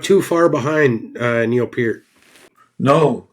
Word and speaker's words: Peart: Neil Peart's last name is pear with a P. It's ear with a P at the front and a T at the end. Peart?